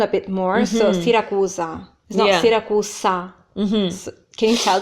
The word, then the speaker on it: Siracusa: yeah cos I'm Roman because Elise is Roman Roman so sometimes put us sounds instead of Z sound it kind of leans more towards us instead of a Zed so for example the way I'm saying it is kind of more like standard Italian yeah the ass so